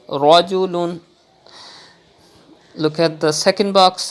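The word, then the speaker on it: رَجُلٌ: You have to pronounce with thick tone like this, rajulun.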